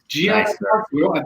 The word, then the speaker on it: Giannattasio: Giannattasio. Did I pronounce it correctly, Todd?